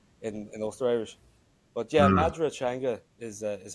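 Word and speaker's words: Madra Teanga: Taijan Ifigo, which is the standard dialect, it's Madra Changa, but I speak Ulster Irish, so we would say Madu Changa. That's how you say dog in Irish, in Ulster Irish. But yeah, Madra Changa is how you pronounce it.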